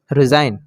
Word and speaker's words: resign: चलिए और एग्जांपल देखते हैं, RESIGN, रिज़ाइन, तो यहाँ पर देखिए जी साइलेंट रहेगा तो यहाँ पर हो जाएगा रिज़ाइन।